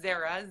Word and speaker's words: Zahra: o n my yeah my middle name is Zahra ze RA and then my youngest is azalea which is spelled like the flower nice nice yeah yeah